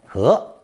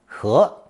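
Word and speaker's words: 盍: its cover or lid, pronounced second tone, he, he.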